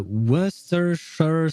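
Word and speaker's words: Worcestershire: Uh, worershure sauce. Oh, it's just Worershure. Ah, okay. So, it's easier than um than it's supposed to be.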